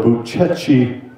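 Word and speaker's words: Bucegi: ancient and in its form it's called the buchechi mountain range it's spelled b-u-c-e-g-i Uchi if you look at pictures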